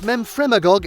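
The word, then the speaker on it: Memphremagog: british columbia lake superior in ontario and lake memfremagog in quebec yes i did pronounce it correctly and finally you won't believe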